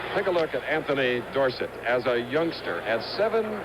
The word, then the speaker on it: Dorsett: and wes dorsett recently tony says we should pronounce his name gorset however too many people know it the other way chris had a hard time changing too late his parents know it dorset third and five now